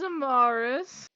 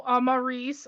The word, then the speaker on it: Amarice: right so right hello my character's name is amarus um oh sorry no amarice I mispronounced my own character's name your own character Amar